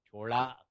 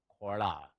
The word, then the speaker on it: Chola: Chola, Kola, you can pronounce it either way.